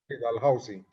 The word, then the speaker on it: Dalhousie: Gutiérrez es médico y oftalmólogo del CES, especialista en glaucoma de la Universidad de Dalhousie, así se pronuncia, Dalhousie.